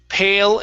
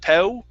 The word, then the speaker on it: pale: more time and uh pale as well you need an l sound there instead of po it's pale a shiny silver pail